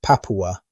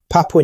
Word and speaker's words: Papua: The word Papua is a local term with origins in Malay, pronounced Papua, meaning frizzled hair.